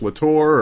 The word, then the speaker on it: La Torre: Now, Todd La Torre's voice, am I pronouncing it correctly? Is it La Torre or is it just La Torre?